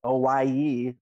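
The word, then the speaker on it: Owyhee: uh hawaii company okay so it's spelled o-w-y-h-e-e and it's o-i-e like because of the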